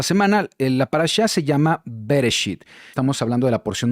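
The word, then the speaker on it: בראשית: La parashá se llama Bereshit. Estamos hablando de la porción número 1. Así es como se escribe en hebreo, así es como se pronuncia.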